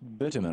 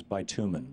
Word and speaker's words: bitumen: Pronounced bitumen. I always thought it was bitumen.